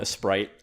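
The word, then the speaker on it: Aseprite: next we have okay I'm told this has apparently said a sprite I call it a SC pright because that's how it's spelled but I believe people call it a sprite it's a 2d bitmap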